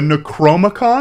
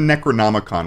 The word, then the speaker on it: Necronomicon: same reaction Molly the necromicon he's talking about the Necronomicon which is a fictitious ancient Book of the Dead if he is talking about what I think he is and just saying it wrong that makes his reaction